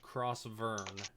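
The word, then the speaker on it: Crausvurn: continent is uh crossburn it's spelled uh c-r-a-u-s-v-u-r-n crossword ah Vern I wrote F okay cross Vern uh and the place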